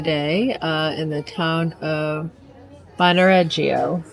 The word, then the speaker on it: Bagnoregio: in the town of Bagnoregio, right? Is that how she's saying it? Bagnoregio. I thought the G was silent. It seems like the G is silent. Bagnoregio, yeah, that's how you say it.